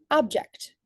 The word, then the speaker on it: object: Object, primary stress on the word ject. In my specific pronunciation, you could really hear object. You could definitely hear the increase in loudness, duration, and pitch when I pronounce that second syllable, ject.